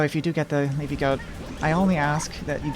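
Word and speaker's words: Leafy Gote: It's the Leafy Goat, and that's spelled G-O-T-E, made by Asmidi.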